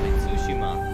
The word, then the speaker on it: Tsushima: you explore the world of sushima tsushima so that's how you pronounce it it's tsushima not tsushima exploration